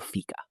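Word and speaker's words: fika: Let's talk about Sweden and their concept of fica. Oh, I love fica. It's spelled f i k a, right?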